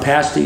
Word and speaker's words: pasty: pass the party okay just remember a pasty is something you eat yes okay I definitely